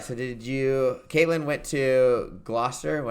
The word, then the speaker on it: Gloucester: All right, so Katlyn went to Gloucester, how do you say Yes, it?